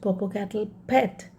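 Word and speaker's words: Popacatapetl: a cave on mount purple cattle pet yes that is the way you pronounce this mount purple cattle cat a pet l in the end is silent the black teeth of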